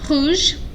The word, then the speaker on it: rouge: Rouge. Rouge. Okay, there's already an E, so nothing changes if it's feminine.